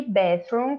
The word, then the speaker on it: bathroom: Já o banheiro, a gente, quando for pronunciar o TH, a gente bota a língua entre os dentes, ó.